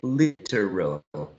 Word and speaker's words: literal: for the next one you can say or some speakers can say literal literal three sybles but there may be two try pronouncing the word using two syllables only literal literal exactly literal